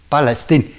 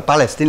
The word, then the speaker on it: Palestine: palestin nhà n Palestine mà chúng tôi đọc là Palestine là theo tiếng Pháp từ trước đến nay ch bây giờ là thưa quý vị nghe theo tiếng Anh là Palestine Palestine thì trên màn